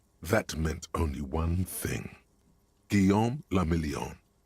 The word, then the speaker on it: Guillaume le Million: Guillaume le Million. Okay, what's that? If it doesn't rhyme, you're not pronouncing it right.